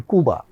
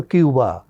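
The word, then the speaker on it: Cuba: নোক্তা মানে এই যেমন আপনি বললেন কুবা আমাদের সাধারণ মানুষ তো কিউবা চেনে আপনারা বলেন মেহিকো আমরা মেক্সিকো বলতেই কমফর্টেবল হয়ে যায় ঠিকই আছে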